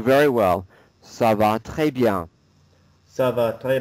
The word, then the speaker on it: bien: So it's a nasal sound on the IEN. And you're doing a good job not pronouncing the N, so it's like this.